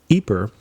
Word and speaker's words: Ieper: And they ended up at a city called Ieper in Belgium, or Ypres, if you're using the French pronunciation.